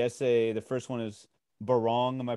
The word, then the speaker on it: Barong: Just to wrap up, you know, the bookends of the essay, the first one is Barong. Am I pronouncing that correctly?